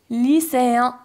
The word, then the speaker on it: lycéen: ما نطقناهش en, نطقناه un. Ou encore lycéen.